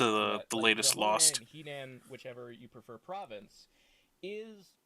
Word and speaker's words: Henan: Like Liu Kang was from the Honan province. That is a real world. Nowadays, it's more commonly pronounced Henan province, but that is a real alternate like